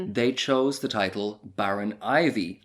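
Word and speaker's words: Iveagh: Ivy E A G H is how it's written down, but pronounced Ivy.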